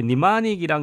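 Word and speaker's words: mnemonic: 자, 그리고 이게 니마닉이란 거는 뭐냐면 앞에 m은 묵음이고 니마닉 뭐 니모닉 이렇게 읽게 되는데 이게 뭐 원래 영어로 뜻은 연상법 같은 거예요.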